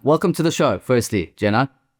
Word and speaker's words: Dzenan: It's like a J. It's a DZ but it's like a J.